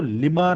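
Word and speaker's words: Lima: होता है प्रोनंसिएशन में तो हम इसको लिमा नहीं पढ़ेंगे एस पर हिंदी प्रोनंसिएशन टेक्नीक इसको लोग पढ़ेंगे लि लेकिन इसको लीमा नहीं पढ़ना है we should speak it like लीमा ठीक है लीमा एक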